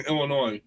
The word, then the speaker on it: Illinois: kind of like the S in Illinois.